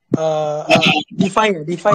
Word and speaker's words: DeFi: DeFi ya bacanya, DeFi.